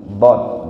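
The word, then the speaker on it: ض: Di mana dara pengucapannya adalah pinggir lidah kita ditempelkan ke geraham. Baik yang kanan ataupun yang kiri. Dod.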